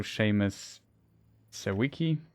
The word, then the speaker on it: Seamus Sawicki: Yeah, that is also Seamus Sawicki. That's how the name's pronounced.